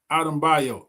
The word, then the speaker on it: Adebayo: Adebayo. He done broke the syllables down. Okay, Adebayo.